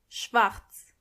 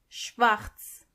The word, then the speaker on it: schwarz: Black means schwarz, schwarz. And make sure you are pronouncing the R correctly.